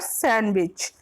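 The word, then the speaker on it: sandwich: अगला क्वेश्चन है question number 16, विच letter is silent is the word सैंडविच? ये हम वैसे नॉर्मली से सैंडविच बोलते हैं जो कि हम गलत बोलते हैं, इसे बोला जाता है सैंडविच। तो इसमें पूछा गया कौन सा लेटर इसमें साइलेंट होगा? N, option B W, option C D, option D S। तो इसमें कौन सा आंसर सही होगा? सी D, सी का D, सैंडविच। डी इसमें क्या होता है?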